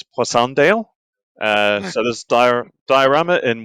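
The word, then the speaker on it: Passchendaele: He has the eighth battalion, London Regiment, 20 September 1917, Passanddale as most people pronounce it, although I think in French it's Pandale.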